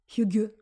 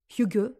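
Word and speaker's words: hygge: des pays nordiques hein le fameux HUG danois alors je le prononce sans doute très très mal mais tu le connais c'est l'art de vivre danois pour te si tu le recherches yug ça s'écrit h y2 GE en tout cas pour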